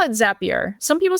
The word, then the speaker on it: Zapier: I call it Zapier. Some people say Zapier, but I call it Zapier. Yeah. Okay, like it's Zap, right?